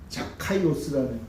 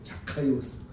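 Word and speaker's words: Ζακχαῖος: 이 삭개오의 원래 발음이 뭐냐 하면 자카이오스라는 자카이오스. 그걸 이제 삭개오라고 번역을 한 거예요. 이름이 멋있죠? 자카이오스.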